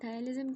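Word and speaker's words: ptyalism: उसके बाद अगला है टाइजम ठीक है पी साइलेंट टाइजम क्या होता है ये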